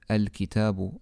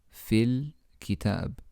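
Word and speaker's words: الكتاب: al-kitabu as an example when we start on the hamza al-wasal we pronounce the alif with a fatha al-kitab however if it had been in the middle of a sentence or preceded by another word then we wouldn't pronounce this alif if i wanted to say in the book the word for in is fee i would say phil kitab fil kitab in the last part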